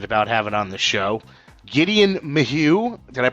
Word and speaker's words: Gedeon Maheux: Gedeon Maheux. Did I pronounce that correctly, Gedeon?